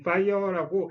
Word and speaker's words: FHIR: 그러니까 이 fire라고 FHIR이라고 쓰고 불꽃 로고가 되게 유명한데 그냥 진짜 그 불의 fire라고 읽어요.